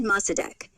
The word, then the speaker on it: Mossadegh: It's Mohammed Mossadegh. Emphasis on the deg.